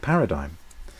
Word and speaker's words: paradigm: to pronounce the word paradigm. It's got a helpful kind of in brackets they've broken it down into par r uh dime d y m noun and this this